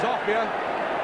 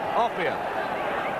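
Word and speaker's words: Offiah: They call him a fire because it rhymes with chariots. His real name is Offia.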